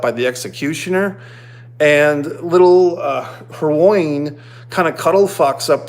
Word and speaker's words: Hermione: three kids, Ron, and I can never say her name, Halaya or Alaya. What's her character's name? Emma Watson, Hermione. Sorry, I'm not trying to disrespect the character. It's just a hard name for me to pronounce. Hermione.